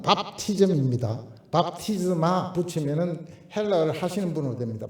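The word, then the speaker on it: βάπτισμα: 그 발음은 밥티즘입니다. 밥티즈마 붙이면은 헬라어를 하시는 분으로 됩니다. 밥티즈마.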